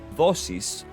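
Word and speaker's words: δόσις: Now, Dosis, or commonly pronounced in Greek as Dosis, it is a Greek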